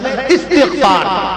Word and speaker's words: استغفار: کہتے ہیں استغفار پڑھیے، استغفار صحیح تلفظ ہے استغفار، استغفار، اور جب پڑھیں گے تو الف کے زبر سے پڑھیں گے، استغفر اللہ ربی